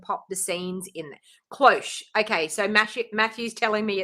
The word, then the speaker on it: cloche: Cloche. Okay, so Matthew's telling me it's pronounced cloche.